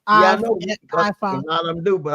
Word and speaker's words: Ifa: That's not Ifa.